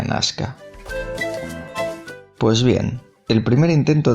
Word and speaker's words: Nasca: nasca usaremos esta acepción porque nazca es el término con la pronunciación hispanizado el término correcto al menos arqueológicamente sería nasca Pues bien el primer